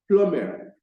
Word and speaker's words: plumber: The second one is plumber, plumber. The letter B there is not pronounced. So what we pronounce is the P, the L, the U, the M, and the ER. That letter B is not pronounced. The sound for that letter B is silenced.